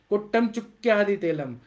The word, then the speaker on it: कोट्टम चुक्का आदि तेलम: मैंने इसको कोट्टम चुक्की आदि बोला है, ग्रंथों में बोला है कोट्टम चुक्का आदि तेलम, क आधा क और पूरा क, कोट्टम चुक्का आदि तेलम, या कुष्ठ शुंठ्यादि तेलम।